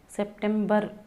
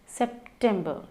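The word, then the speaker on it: September: जुलाई, अगस्त, सितंबर, सितंबर, सितंबर नहीं, सितंबर। Last syllable किस तरीके से प्रोनाउंस हो रहा है देखिए, सितंबर। इट्स अक्टूबर, अक्टूबर, नवंबर, न पे हमें जोर डालना है, नवंबर, दिसंबर, इट्स दिसंबर, ठीक है।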